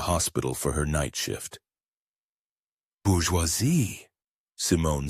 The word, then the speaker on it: bourgeois: "French signature, the silent S at the end, the ois sound."